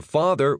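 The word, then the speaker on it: faither: Pronounce that like feather but with a long a sound.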